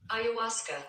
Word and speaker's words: ayahuasca: Pronunciation. You know what I mean? You know what I mean, Claire? You ready? Yeah. Ayahuasca.